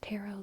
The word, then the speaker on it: taro: So I pronounce taro like taro, which is like a Japanese food, I think, as well. So I pronounce it like that, taro. Some people say taro. Both are fine. Both are A+.